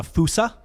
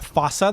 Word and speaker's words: fossa: a an animal called a fusa or a fossa that's pronounced both ways f-o-s-a-f-o-s-s-a Native only to Native